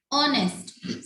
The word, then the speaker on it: honest: Sadia is an honest girl. Here the honest word is start from consonant H, but the H is silent over here and the word is start from O sound. O, honest.